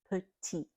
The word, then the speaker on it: petit: So the first one, petit, the T is silent because that is a consonant at the end of a word.